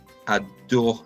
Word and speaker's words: adorent: Les jeunes adorent le fast food. The young people love fast food. Aime, adore. Never pronounce the NT ending there.